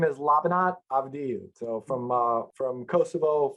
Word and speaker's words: Labinot Avdiu: glad you've given me the easy version to pronounce of your name what's the what's the given name full name is lavanat avadyou so from uh from kosovo former yugoslavia albanian